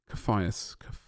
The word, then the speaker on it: Caphias: Caphias. Okay. All right, that works. Caphias. I think I tried that pronunciation before one time, and I wasn't entirely sure of it.